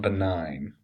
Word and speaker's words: benign: The spelling is kind of interesting, but again, it's malignant, that's how it's pronounced, and benign.